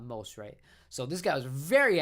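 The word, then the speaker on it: Maserati: maserate after masi nissan so i've always called them moss right not most right so this guy was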